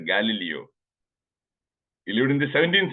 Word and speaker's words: Galileo: examples okay Galileo Galileo it is not Galileo it is pronounced Galileo he lived in the